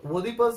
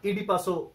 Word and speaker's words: Oedipus: তো ওডিপাস যেটা ওডিপাউসও বলা হয়, গ্রিকে যখন লেখা হয়েছিল ওডিপাউসও বলা হয়, ওডিপাসও উচ্চারণ হয়, আবার ইডিপাসও খুব কমনলি উচ্চারণ হয়।